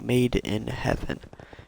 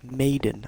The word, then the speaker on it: Made in Heaven: like me it happened it's like made in heaven because that's how it's pronounced but freaking Netflix put the episode titles as maiden like a woman like a maiden in heaven made in heaven I